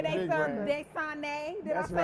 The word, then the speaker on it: Dasani: Desane. Did That's I say it right. right? You did Okay. right. You did right. I thought it was Dasani water.